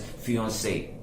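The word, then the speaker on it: fiancée: it is said as fiance the second e is not pronounced for the female gender right so please keep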